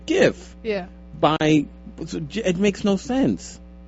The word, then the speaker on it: GIF: Well, it's a G. It's not a J. Well, no, but more like Jiffy Lube. More than G, it's graphic. It's a hard, it's an initial of a hard G sound, graphic. So it should be GIF.